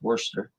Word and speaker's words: Worcester: Westfield Lake Quinn sagamond in Worcester spelled like War chest there was worser Walden Pond in Concord